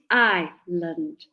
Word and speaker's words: island: The S is silent. So it's island, island, island, just together, island.